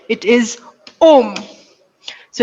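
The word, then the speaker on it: homme: a h it is om so it's going to be c e t because h is silent and we pronounce the o so it's going to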